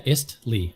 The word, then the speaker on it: Istlee: I think as much as Easty, sorry. Yeah, Istlee. I-S-T-L-E. Istlee, is how you yeah.